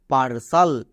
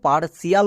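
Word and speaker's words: parcel: না চলো উচ্চারণ করো পি ই আর এর জন্য কি হয় পার টি আই এল সাল পার্সাল একে আমরা ভুল করেও পার্শিয়াল বলবো না ইংরেজি রিডিং 100% সঠিক করতে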